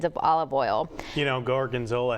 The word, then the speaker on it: gorgonzola: olive oil you know gorgonzola has four syllables that's hard to say cut so you know